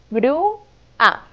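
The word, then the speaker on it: grúa: sílabas también Gru a la primera sílaba es Gru que la formamos juntando las letras g r y u y esta sílaba es muy especial porque en la letra u tiene la tie de acento Gru la última sílaba es solo una vocal la vocal a Gru a perfecto completamos todas las palabras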